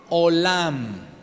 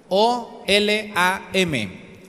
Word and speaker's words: olam: 10 número se olam olam olam como Hola sin h y al final a M olam o L a m olam que quiere decir